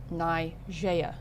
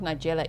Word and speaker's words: Najee: She's Najee. I've been saying Dozier. Najee. Okay. It's not Nigella either, Maxie. Najee. You just said it right.